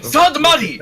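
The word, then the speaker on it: Sahdmadhi: Sadmadi! It is Sadmadi. It is not that hard to pronounce. Just say Sad, and then Mad, and then E.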